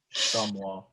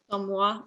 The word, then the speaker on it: chamois: I don't know how to pronounce that one. Chamois. Chamois.